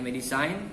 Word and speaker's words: medicine: medis style medisain medisain ya bacanya medisain tulisannya medecine design itu artinya obat-obat kemudian nomor out break